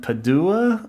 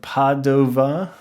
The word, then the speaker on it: Padova: to uh Italy we're still in Italy um Padua or Padova as I've heard it pronounced both ways um both much smoother than